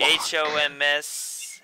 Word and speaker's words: Homs: H-O-M-S. How do you pronounce it?